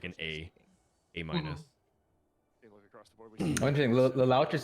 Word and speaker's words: Lelouch: I think it's, yeah, it's Lelouch. Lelouch. How's it pronounced? No, you had it right the first time.